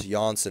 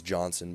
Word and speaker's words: Andreas Jansson: positive uh AHL Andreas jansson apparently that's how you say it I thought it was Johnson but it's not he went from a